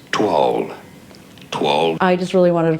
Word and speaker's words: toile: So the pronunciation in English is as toile.